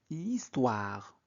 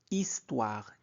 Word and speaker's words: histoire: Thomas répond aussitôt a eu o aussitôt moi, je préfère l'histoire euh ne prononcez jamais hire l'histoire elle nous fait voyager Dans le passé, on découvre des civilisation.